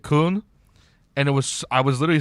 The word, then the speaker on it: Köln: It's in Cologne, so like the city Cologne in Germany, so it's Cologne, but they pronounce it Köln.